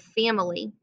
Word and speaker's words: family: little tricky as well sometimes it sounds like there's no i in the word family i have to slow down and say it slowly to make sure i spell it correctly when i spell it i spell it fam and then lee again there's that tricky y that comes at the end of a multi-syllable word and it says e instead of ye so here we are